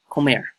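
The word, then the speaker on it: comer: grin I'm good at the method come here Comair home ever see the pronunciation right there Comair to eat the Spanish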